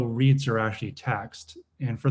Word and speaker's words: REIT: The largest lodging REIT, the acronym is pronounced REIT, in the world.